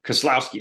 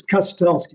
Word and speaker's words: Kustelski: but pronounce it correctly no that's fine it's cutest gotcha so Dan give